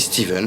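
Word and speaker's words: Stephen: Bon, ça s'écrit Stéphane, mais ça se dit Steven, je crois, ou Steve.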